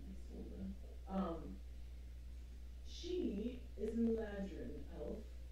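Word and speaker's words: Isolde: I'm pretty sure that's how you pronounce that name. I sold.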